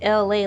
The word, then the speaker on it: ELAY: It's me, LA, ELAY, pronounced LA like the city.